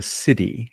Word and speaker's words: siddhi: shadow, which are negative patterns, gift level, which is your creative potential, and what he calls the city, and that's spelled SI Dhi or divine manifestation pattern.